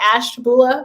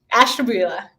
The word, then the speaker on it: Ashtabula: i say it right is it ash bula ohio did i do okay on it close very close ash jabula ashtabula ashtabula yeah well tell me about